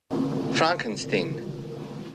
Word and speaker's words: Frankenstein: Frankenstein. You're putting me on. No, it's pronounced Frankenstein.